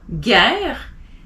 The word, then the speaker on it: guerre: If you have a G next to a vowel, OU, A is G. So golf, guerre, élégant.